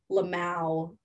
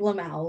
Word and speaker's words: lmao: Sometimes people make fun of me because I'll be like, "luh-mow." That's how I pronounce "lmao," like, "laughing my ass off." I'll be like, "Luh-mow, luh-mow."